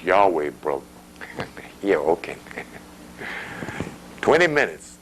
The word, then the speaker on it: Yahweh: It's Yahweh, brother.